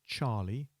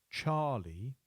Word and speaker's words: Charlie: C is Charlie, and there are two pronunciations for that. One is Charlie, Charlie, or for those nations where the pronunciation of ch is difficult, they may use Charlie, Charlie. Again, emphasized on the beginning of the word.